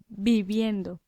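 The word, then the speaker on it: viviendo: bib, sorry, it's pronounced the v is pronounced like a kind of b sound. So, bib. And we add the ending yendo. Bibbendo. Bibendo.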